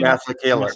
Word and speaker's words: Masekela: Masekela.